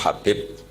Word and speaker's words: Habib: yang nulis Abi Abdurrahman Habib assulami itu di harakatnya kitab itu ada yang nulis khi Yang benar Oh enggih yang benar itu bacanya habib habib itu asulami itu